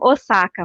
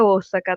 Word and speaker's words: Osaka: Então, muitos brasileiros falam Osaka, mas é Osaka, tá, gente? Para a pronúncia da cidade.